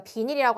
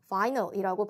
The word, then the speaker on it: vinyl: 비닐봉투 가져갈 때 그 비닐, 우리가 비닐이라고 하면 비닐 좀 가져와, 비닐봉투를 얘기하죠. 그렇죠? 그런데 이 단어도 영어고요. 발음은 다릅니다. 발음은 vinyl이라고 발음이 되고요.